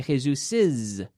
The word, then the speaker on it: Jesus's: It's a question of pronunciation, because what's happening here is we're saying essentially Jesus is book with an extra syllable. We don't say Jesus book. We say Jesus's book.